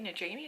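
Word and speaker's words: Najimy: character and then catherine kathy najanie is how you say her name character that's this movie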